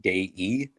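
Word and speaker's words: Dei: so you know uh day e but it's spelled d-e-i but it's in italian it's pronounced day e and then della d-e-l-l-a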